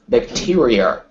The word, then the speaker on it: bacteria: one word for me I want to hear four syllables bacteria bacteria but I need to hear e at the end ah bacteria that's it because you were you were sort of blending them together bacteria this yeah bacteria